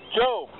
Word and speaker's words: Job: Some of you might pronounce it as Job. Probably run away. But Job.